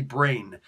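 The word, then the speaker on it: brane: Yes, B-R-A-N-E is actually brain. You pronounce it brain, as in B-R-A-I-N, but brain actually means more of a string, the theoretical string in string theory.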